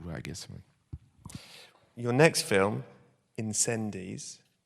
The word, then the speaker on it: Incendies: guess your next film incendies have I pronounced that correctly in fact you don't it's inandi yeah it's a almost